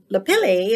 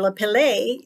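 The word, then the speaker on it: lapilli: come after the eruption Le Pele or Le Pele that's pronounced both ways to millimeters to six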